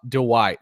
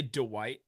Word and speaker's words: Dwight: Do you know that you say Dwight instead of Dwight? Dwight. You add like an extra syllable in there.